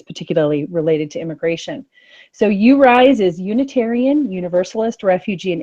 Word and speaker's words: UURISE: rise and it is even though it is spelled you you rise it is you rise tell Elizabeth so you